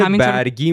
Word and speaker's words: برگی: زیادی هم دارن سبزیجات برگی منظورته تلفظش برگیه برگ با فتحه تکرار کن درست میگین سبزیجات برگی